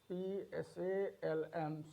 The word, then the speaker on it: psalm: We have P letter silent. PSALM, Psalm, psychology, what do we find here? P is there, but the pronunciation of P is not there.